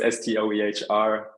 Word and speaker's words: Stoehr: Yeah, so YouTube, I think just put in my name, like, surname that nobody can pronounce. That's a German one. So it's Stoehr.